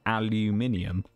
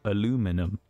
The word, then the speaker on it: aluminium: the World um cuz of course we pronounce pronounce it aluminium and they pronounce it aluminum and then try and tell everybody that there's